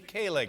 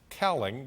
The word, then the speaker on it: Kaling: office please welcome mindy kaling welcome to the show i'm terribly embarrassed uh i mispronounced your name i said cowling but it's kaling is that correct that is correct yeah